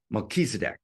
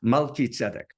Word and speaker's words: Melchizedek: And in English, I know in spiritual circles, they pronounce it in some weird way, Melchizedek or something like that, right? That's the worst Hebrew pronunciation in the world, Melchizedek. Okay, but Melchizedek.